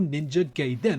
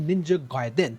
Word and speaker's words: Ninja Gaiden: It's pronounced Ninja Gaiden, like the word guy and then den.